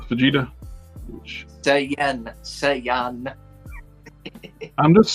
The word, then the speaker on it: Saiyan: Dragon Ball super Super Saiyan God s Vegeta Sayan Sayan I'm just saying man yeah that's how you pronounce it Sayan that's what I just said